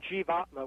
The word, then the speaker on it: jivatma: entity called the self is it pronounced jivatma i use the term g vatma which is from sanskrit okay and you list